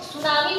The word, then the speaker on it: tsunami: जापानी शब्द है और देखिए इसको सुनामी बोलते हैं लेकिन लिखते हैं टी सुनामी। टी टी लिखा हुआ है ना इसमें टी साइलेंट है।